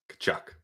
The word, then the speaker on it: Tkachuk: Kachchuck.